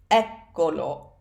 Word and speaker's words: eccolo: pronoun to the end it becomes echo me eccolo eccolo egg Kochi so that stress stays on the first syllable alright so that's about